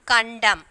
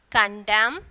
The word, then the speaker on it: condemn: Next one, condemn. N is silent. Column, CO. Okay, COLOUNM, column, and then autumn. Okay, N is silent. So in these three words, N is silent, condemn, column, and then autumn.